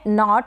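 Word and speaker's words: knot: तो इसका प्रोनाउंसिएशन है नॉट, के साइलेंट है।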